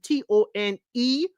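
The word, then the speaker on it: Toné: It's actually Tony, Toni, and Tone with the Tony. Hey, Ms. Mad About Music, you know how to do it. The only thing is the accent on the E in the last Tony, but that's it.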